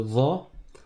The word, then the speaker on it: ظ: Le za, za, zo, zi. Va, c'est comme le zel. La pointe de la langue touche la pointe des dents du haut et l'arrière de la langue, on le monte.